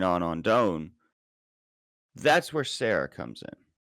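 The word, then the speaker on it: Serra: That's where Sarah comes in. Or it said Sarah, but it's spelled like Sierra or something. And there's no I guess anyway. It's like Sierra without the I.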